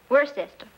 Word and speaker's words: Worcester: something else too dark but it's spelled w-o-i-c-e-s-t-e-r we're a sister oh yes I see